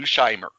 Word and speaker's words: Scheimer: Scheimer.